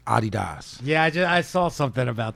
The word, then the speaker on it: Adidas: Yeah, but I'm Adidas all day when it's summertime. I won't wear nothing else. Vinny? The correct pronunciation is Adidas.